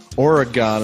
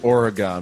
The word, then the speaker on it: Oregon: bust today yes there is a myth that Oregon is pronounced Oregon but it's actually pronounced Oregon okay like my